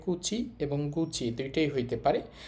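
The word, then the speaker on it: 口: এটা হচ্ছে মুখের কাঞ্জি এটার কুনিয়মী জাপানি উচ্চারণ হবে কুচি এবং কুচি দুইটাই হইতে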